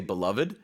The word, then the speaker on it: beloved: You can just say beloved. It means much loved, adored, something you really, really like. 네, 이거를 이제 syllable를 2 syllables로 발음할 수도 있고 3 syllables로 발음할 수도 있어요.